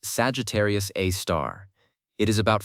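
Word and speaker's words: Sagittarius A*: Pronounced Sagittarius A star.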